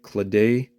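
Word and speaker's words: Claddagh: Um, this is a uh I believe it's an Irish I'm not sure how to pronounce it. Clay, I believe. C L A D A GH I believe is how it's pronounced.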